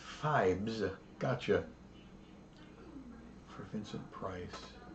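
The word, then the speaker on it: Phibes: um Fly no correct it's pronounced fibes yeah I know here's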